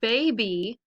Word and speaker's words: baby: If you look at the word baby, that Y sounds like that E, that EA. So how many syllables are in baby? The letter Y stands for the long E sound at the end of the second syllable in baby.